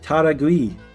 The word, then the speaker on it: Taragui: natives have released a country taragui rhymes with paragui if I had